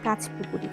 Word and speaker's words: কাঁচ পুকুরি: এখানে কাঁচ পুকুরি বলে একচুয়ালি উচ্চারণটা হয় কাঁচ পুকুরি কাঁচ বলতে কচ্ছপকে পৌঁছায় এখান দিয়ে অনেকটা নিচে